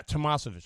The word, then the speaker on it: Tamasovich: Yeah, Tamasovich.